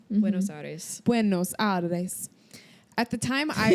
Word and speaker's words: Buenos Aires: Buenos Aires? Buenos Aires.